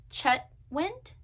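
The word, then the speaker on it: Chetwynd: being yourself by katana chet wind i always pronounced her name wrong i think it's chetwind i gave this one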